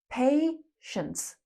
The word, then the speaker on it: patience: Patience. Patient is the adjective. Patient. And be careful, the pronunciation is not p, it's pay. Like you pay money.